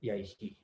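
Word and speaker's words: yaiḥ: So so so there's a comment is that it is pronounced yaihi. We would say yaihi. That is correct.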